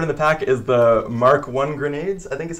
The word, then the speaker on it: Mk: the first card of the pack is the mark 1 grenades I think is how you pronounce MK right yep mark 1 grenades it is a level 4 3 cost